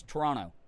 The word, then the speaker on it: Toronto: You don't say it Toronto. You have to It's Toronto. It's like spelled like you say it like it's spelled T R O N O. Toronto.